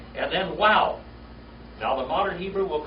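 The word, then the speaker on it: וו: But the oldest pronunciation of this letter is with a W, not a V. All right? All right? It's wow, wow like in way.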